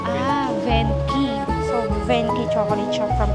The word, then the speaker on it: Venchi: po yung first branch dito sa ano pong pronunciation p ah venky so venky chocolate siya from italy meron din